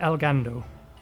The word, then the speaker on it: Elgado: There's no R in it. Elgado.